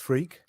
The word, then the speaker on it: Freke: No, my name really is pronounced Freke.